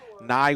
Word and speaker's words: Neu: has called him logan new all year long but i believe it is actually pronounced ni neu you grew up watching bill nye the science guy that's right he had